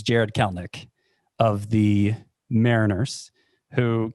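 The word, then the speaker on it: Kelenic: this would be your number two it's jared kalnick of the mariners who kel nick is spelled k-e-l-e-n-i-c and while we're at it jared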